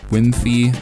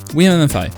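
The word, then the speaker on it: Wiimmfi: online play feature called Wii MMFi, or Wimfi. I've heard people pronounce it many different ways, but Wii MMFi.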